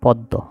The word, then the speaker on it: পদ্ম: প দয় ম ফালা পদ্দ আচ্ছা এখানেই প দয় ম ফালা উচ্চারণ শুনতে অন্যরকম শোনা গেলেও আমরা যখনই এইরকম দেখব তখনই এটাকে আমরা পদ্য হিসেবে পড়বো এটা হচ্ছে পদ্য তো